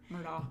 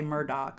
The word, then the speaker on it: Murdaugh: Murdaugh. It's spelled Murdaugh, but I hear people say Murdoch all the time.